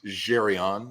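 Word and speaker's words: Zsryon: my art name but it it's pronounced jerion I had black parents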